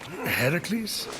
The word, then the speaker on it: Heracles: thing with your voice Heracles yeah that that is how it's supposed to be pronounced seems like a lot